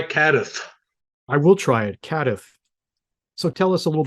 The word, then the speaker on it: CADTH: How do you pronounce that? CADTH. Try CADTH. I will try it, CADTH.